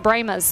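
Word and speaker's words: Brahmas: their mascot paul pewett is it brahmos okay they pronounce it brema's that's the weird thing i've never gotten over that one but sorry paul hewitt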